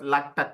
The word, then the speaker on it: LaTeX: you can choose excellent latex software for properly formatting your research documentation you can pronounce it as L te or lat both are same it's a type setting